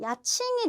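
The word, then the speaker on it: 家賃: 자, 집가자를 써서 우리 가족 할 때 가족 그 카로 발음하잖아요. 야라고 발음하기도 하는데 야칭이 되면 집, 월세, 방값, 방값을 얘기해요.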